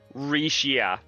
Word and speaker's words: Rixia: X is silent. I don't know if it's quite silent. Rixia. That makes more sense, since given that it appears to be, like, have basis in Chinese.